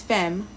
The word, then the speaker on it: femme: If the last letter of a word is an E without an accent is usually silent. Oh, okay, that's helpful because I've been pronouncing the E, not realizing. So it's not femme, it's femme.